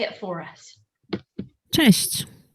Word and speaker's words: Cześć: Cześć. Cześć. Let's play that again. Cześć. It's very fast. Yeah. Cześć.